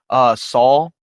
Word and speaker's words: Saul: Sal Gascon or Saul Gascon. Jeez, I said Sal. Saul.